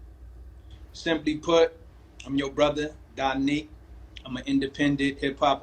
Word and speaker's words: Da Neek: Is it pronounced Danique? Danique.